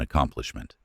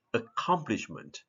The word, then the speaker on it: accomplishment: Accomplishment. Accomplishment. So it is like two sounds, accomplishment, but pronounced together, accomplishment.